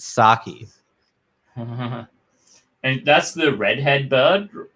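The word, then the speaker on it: Psaki: s a k i the p is silent so it's not the sake it's sake and that's the redhead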